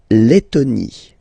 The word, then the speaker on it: Lettonie: La Lettonie. So remember when you've got this and then a double letter like that, T, okay, then you will have to open your and it will become Lettonie.